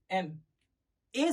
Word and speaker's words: MA: consonant है, consonant है, पर प्रोनाउंस कैसे हो रहा है, देखो प्रोनाउंस कैसे हो रहा है, एम ए से हो रहा है,